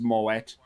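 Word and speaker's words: Moët: a bottle of moet and yes it is pronounced moet before anybody goes he can find this movie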